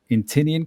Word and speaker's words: Inntinnean: Eric is also a leadership coach at Inntinnean Coaching. That's right. Is that the right way to pronounce it, Eric? That's Gaelic, so that's right.